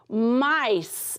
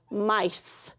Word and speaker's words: mice: Mice. And remember, that's the silent E at the end that makes the I say I. Mice.